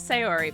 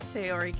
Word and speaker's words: Sayori: How do I pronounce her name? Is it Sayori? Sayori! Okay. That girl is Sayori, my neighbor and good friend since we were children.